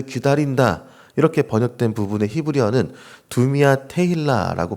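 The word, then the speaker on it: דומיה: 이렇게 번역된 부분의 히브리어는 두미아 테일라고 발음을 합니다.이 테일라는 찬양이란는 뜻이고요.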